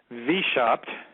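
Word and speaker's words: Weishaupt: was an individ Adam vop and he's the individual that designed Washington DC you've heard of him it's his name spelled with a W Wei s h a u PT heard of him right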